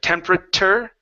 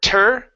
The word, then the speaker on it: temperature: Temperature instead of temperature. Temperature. Temperature. Almost a CH. Chur instead of tur.